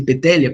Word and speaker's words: Poetelia: Elcio, pelo professor Helmut, Lex Poetelia se escreve, mas é Sile Petelia Papiria, se pratica elisão.